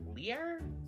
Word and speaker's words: Lier: Not Lair, like Lier, I think it is.